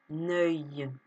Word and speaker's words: œil: Et oui, le mot œil s'écrit avec un E dans le O, un E dans l'O et IL. Et donc ça se dit œil. Mais ça ne s'écrit pas comme le œil de écureuil.